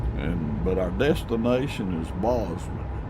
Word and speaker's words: Bozeman: And but our destination is Bozeman, B O Z E M A, and I guess you could say Bozeman, but I I call it Bozeman.